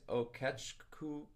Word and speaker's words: Okechukwu: His first name is Innocent, and his last name is Okechku. OKECHUKWU is how it's spelled.